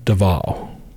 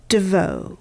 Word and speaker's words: DeVault: the TV shows MH they call her Marissa dval or Devo Devo like this really this really sexy French yeah and it's spelled d v a u l t when we were working this case it was Marissa Deval and she stated her name Marissa Deval yes when we were